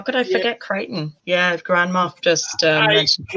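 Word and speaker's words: Crichton: way they put but the way the aliens pronounce it Creighton where they they're always talking about him as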